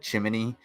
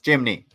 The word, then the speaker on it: chimney: __ ] so uh he said chimney chimney with three syllables it's chimney your together that's kind of uh that might be a midwest thing like a wall i